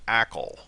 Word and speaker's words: ACL: or an acl and you might hear that pronounced as ackl and an acl can